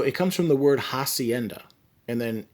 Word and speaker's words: hacienda: comes from the word hacienda and then in spanish you don't pronounce the letter h so instead of hacienda it would be hacienda and then a person